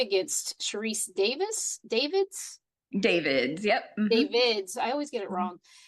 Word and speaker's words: Davids: She is running for Congress in the District 3 against Sharice Davids.